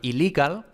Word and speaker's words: illegal: Pues puede ser bien que ellos, por ejemplo, en inglés, illegal se escribe con las dos L's, pero solo se pronuncia una L.